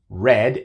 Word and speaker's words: read: if you had red red es el participio de read se escriben igual pero se pronuncian diferente britt reid if you